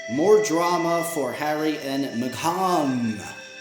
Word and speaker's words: Meghan: drama for Harry and Meghan. I pronounce his stupid wife's name Meghan because it's not Megan. That's not how you spell Megan. Megan is spelled M-E-G-A-N. This is M-E-G-H-A-N.